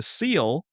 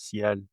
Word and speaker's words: ciel: I know you best from what I used to call the seal, but it's actually pronounced the CL, CL. I think. Okay. I've been fucking that up for years. I say fucking A. I call it the Jixty. It's French, so it's ciel.